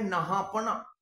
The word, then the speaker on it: नहपान: इनका नाम नहापना, मैं गलत बोल रहा हूं, अंग्रेजी की वजह से ये आदत हो गई है। इनका सही नाम का जो प्रोनाउंसिएशन है वो होगा नहपान, नहपान, माफी चाहूंगा।